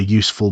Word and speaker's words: useful: It's a useful book for beginners. Useful begins with a U sound, and U is a consonant sound, so it is a, not an.